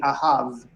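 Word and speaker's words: אהב: Now, the fourth word starts with aleph, which is a silent letter. So we don't have any pronunciation of the aleph. We just go straight to the vowel.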